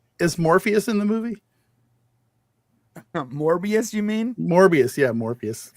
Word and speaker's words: Morbius: there's a reason why morbius rhymes with glorious goodness look regardless we